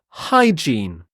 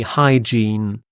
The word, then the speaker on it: hygiene: the next word is hygiene hygiene again a difficult word to pronounce so the i e sounds like e the long e hygiene hygiene and the g here